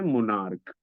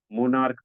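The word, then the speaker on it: monarch: हैं इसे पढ़ते हैं मोनार्क मोनार्क पढ़ते यानी यहां पर सीच का उच्चारण जो हो रहा है वो क हो रहा है सीच का उच्चारण जो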